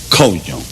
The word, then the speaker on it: coño: Spells C-O-N-O. Ñ is the end with a little thing on top. And it's pronounced coño. Coño.